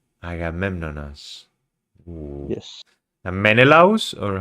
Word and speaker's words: Menelaus: Yes, And Menelaus?